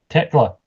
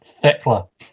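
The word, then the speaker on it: Tekla: on the Gro team it's Techla not tickla god's sake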